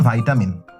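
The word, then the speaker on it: vitamin: আই বলা উদাহরণ দেই আমাকে ভাই আপনি বলেন কি বলা উচিত ভিটামিন না ভাইটামিন ভাইটামিন ভাইটামিন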